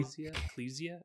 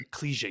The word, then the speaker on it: Ecclesia: Order of Ecclesia, I think is how it's Ecclesia. I pronounced, think yeah. that's what I think they said it once in the game. And I was like, Ecclesia. Got to remember that. So I started this one